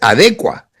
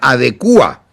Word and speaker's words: adecua: la palabra correcta es adecua, no tiene tilde en la U y no se pronuncia adecúa."